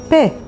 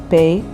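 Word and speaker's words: פ: let's move on to the letter pe pe sounds like pa or like fa pe is also a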